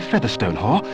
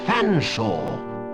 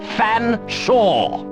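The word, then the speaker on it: Featherstonehaugh: large drink then what ex excuse me Mr Featherstone Hall I presume I can't believe it no can I sir I don't believe you canel pronounce my name properly it's fansa but it it's a talking cater it speaks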